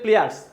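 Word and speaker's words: pliers: প্লেয়ারস আমরা অনেক সময় প্লাস বলে থাকি আসলে প্লাস বলবেন না এটা বলবেন হচ্ছে প্লেয়ারস পি এল আই ই আর এস বানানটা প্লেয়ারস এরপরে আছে হচ্ছে নোজ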